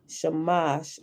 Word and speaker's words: Shamash: The S in such translations as Sar, Samas, and Ishtar is pronounced sh in transliterations, making the words Shar, Shamash, and Ishtar.